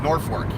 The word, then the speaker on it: Norfolk: to knock north for I don't say live in north I say I live in Norfolk misdemeanour fold sounds like